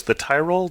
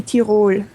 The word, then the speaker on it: Tirol: The Tyrol? The Tyrol? How do you say it? In German it would be Tirol. Tirol. But, Okay. But if you pronounce it the English way, that's fine.